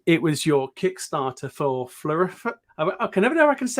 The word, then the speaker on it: Floriferous: And with those experience, the most recent experience with Floriferous.